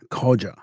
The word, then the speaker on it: Coggia: I gotta check the pronunciation of that. I missed that one. See, I'll use my assistant here. Koja.